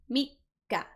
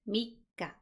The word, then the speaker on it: Mikka: For the third, it's Mikka. Mikka. Notice the little tsu here. It's a little bit smaller than this big one, right? So this means there's a pause, right? It's Mikka. Mikka.